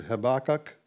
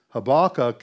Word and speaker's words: Habakkuk: And in Hebrew, Habakkuk is pronounced Habakkuk. Habakkuk. I knew I was going to mess it up, and I did there. I had to say it twice. Habakkuk. Okay? That last U is long.